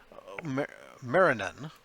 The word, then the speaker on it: Marrinan: Also, Chris Marinan, I think is how you pronounce it. It's Marrinan.